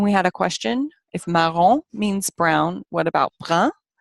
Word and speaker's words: marron: Then we have marron. which unfortunately in this textbook looks like maroon, but it's not.